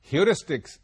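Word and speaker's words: heuristic: general strategy of problem solving are called ह्यूरिस्टिक spelling देख लीजिए और इसका प्रोनंसिएशन भी समझ लीजिए ह्यूरिस्टिक एच ई यू आर ए एस टी आई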